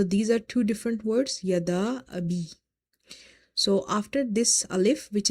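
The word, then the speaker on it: يَدَا أَبِي: So you will stretch this alif of the word yada up to 2.5. So you will say yada abi.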